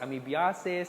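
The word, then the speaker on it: amebiasis: they make fun of you okay when you pronounce it that's ami biases ascariasis it should be amibiases is iss ascoriasis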